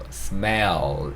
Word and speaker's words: smell: smell 이렇게 발음이 되셔야 돼요. 이 단어가 L 두 개로 끝나거든요.